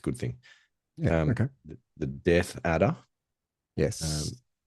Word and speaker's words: death adder: The death adder. Yes. Um, sometimes people mispronounce that as a deaf adder because they do Yeah, it's appear to not.